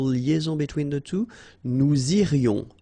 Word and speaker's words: irions: Nous irions. Final S not pronounced.